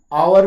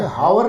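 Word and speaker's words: hour: यहाँ यच जो है आवर में हावर नहीं है, ये आवर है।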